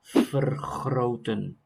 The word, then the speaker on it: vergroten: Here you have an R, G, and R. Three of them next to each other. So this is extra complicated. Vergroten or vergroten. So two different pronunciations of the R in one word.